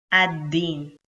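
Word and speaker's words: الدين: after the article al, you will ignore the sound of lam and you will just pronounce da, ad-din.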